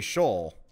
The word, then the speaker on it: Sheol: Yeah, I never heard of anybody pronounce Sheol like that. Well, it's probably Shoal. But the problem is I shuck at pronouncing biblical names.